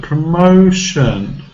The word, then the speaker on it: promotion: TION is a very common suffix in English and sometimes has SION, and this is pronounced with a schwa sound, shun, shun, and we always stress before shun.